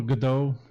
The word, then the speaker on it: Godot: so I would describe Godot or Godot depending on how you want to pronounce it like maybe an eye